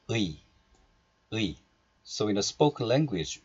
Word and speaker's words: 의: And this 의 is possessive marker, which is omitted here.